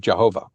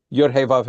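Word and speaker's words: Yahweh: If you try and pronounce the word as it's written this way, you'll get Yhovah, which is where we get the mistaken pronunciation of Jehovah. So that's Yave Adonai.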